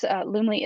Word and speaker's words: Loomly: But out of all of those, Loomly is my favorite. Okay, and how do I spell that?